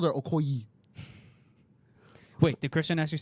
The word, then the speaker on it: Okoye: Okoye, Okay, right?